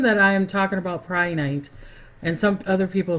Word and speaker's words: Prehnite: something like that, but I've heard that it's Pri. They say saying it that way, even though it's spelled Pre. So Prehnite. Hello, Emilio.